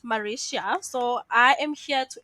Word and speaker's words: Marisia: so I want to make sure that I'm pronouncing her name right it's mauricia so I am here to introduce her so